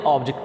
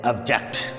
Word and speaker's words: object: OBJECT, अगर तो बेटा ये नाउन है, जैसे हम कहते हैं ना सब्जेक्ट ऑब्जेक्ट, ठीक, तो फिर इसको हमने ऑब्जेक्ट पढ़ना है। वर्ब के तौर पर इस्तेमाल कर रहे हैं तो फिर इसको हम प्रोनाउंस करेंगे ऑब्जेक्ट। इसी तरह से SUBJECT, अगर